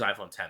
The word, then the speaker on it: iPhone X: iPhone, it is iPhone 10. That's the way to pronounce it. Not iPhone X.